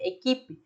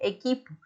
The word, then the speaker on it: equipo: Nosotros diríamos grupo o diríamos equipo, recordando que no se dice equipe, se dice equipo.